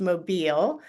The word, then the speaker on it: Mobile: been around longer than mobile phones and it's pronounced mobile I was oh you but no one knows